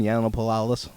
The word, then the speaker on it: Yiannopoulos: Yiannopoulos.